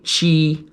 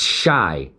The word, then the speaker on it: Chi: lot of people say chi or chai that's wrong it's shy like Chicago like shy town so it's shy Battery